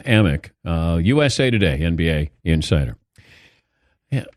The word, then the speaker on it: Amick: time thank you Dan Sam Amick but he's been mispronouncing his name so it's Sam amock USA Today NBA insider